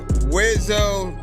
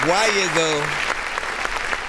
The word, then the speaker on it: Wiyzo: Once again, that was Top of the World with Wizzo. That's spelled Wiyzo. I know it's complicated, but you know what I'm saying? Like, listen. Honestly, for a little bit, I used to call him like Why-Izzo.